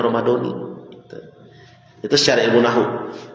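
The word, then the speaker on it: رمضانِ: Karena ramadona itu dia isim ghair munsarif yang harusnya berhenti di situ kalau mau ramadona. Tapi kan ada kalimat setelahnya, hadis sanati. Jadi dia difatkan ke kalimat itu, maka harus dibacanya ramadani.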